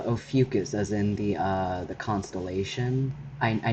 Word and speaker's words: Ophiuchus: Um, but it's Ophiuchus, as in the constellation. I named my channel after my pet snake, whose name is Ophiuchus.